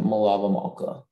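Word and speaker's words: melaveh malkah: saturday evening um wait are there any alternate pronunciations there is none there's just the one malava malka my lava malka malava malta malava m e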